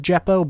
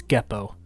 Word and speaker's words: Geppo: I also thought it was Jeppo, but I've heard them say their own names. That is not how it's said, it's Geppo.